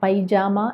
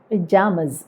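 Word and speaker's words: pyjamas: അപ്പോൾ ഇത് പറയേണ്ടത് പിജാമസ് എന്നാണ്. പിജാമസ്, പൈജാമ അല്ല, പിജാമസ്.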